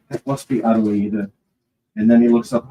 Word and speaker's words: Adelaide: which is called Adelaide, which is the name of his beloved, Adelaide, but it's pronounced Adelaide.